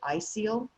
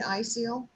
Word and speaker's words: ISEAL: Well, April, can you talk about BCI and I may not be pronouncing this correctly, ISEAL? Yeah, sure. It is ISEAL. You've got it right.